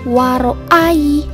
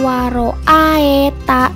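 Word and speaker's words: وَرَأَيْتَ: ada bacaan waroa Ita ingat ya bacanya Waro Ayi bukan waroa Eta tapi Ai ada ia waroa haitan nasakh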